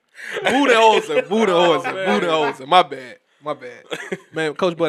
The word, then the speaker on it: Budenholzer: Bodenholzer. What's his name? How you pronounce his name? How you pronounce his name? Budenholzer.